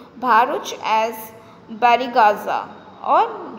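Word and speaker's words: Barygaza: The Greeks referred to Bharuch as बैरीगाजा.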